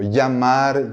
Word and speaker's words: llamar: Por ejemplo, llamar, llevar, llegada. En América Latina, en algunos lugares, va a ser pronunciado como si fuera un I-E o IA, ¿no? Llamar, llamar, ¿ok?